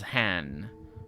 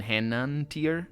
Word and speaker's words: Henantir: She doesn't pronounce it properly. She says Han rather than Henantir.